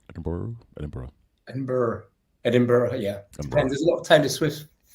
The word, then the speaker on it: Edinburgh: Edinburgh. Edinburgh, Edinburgh.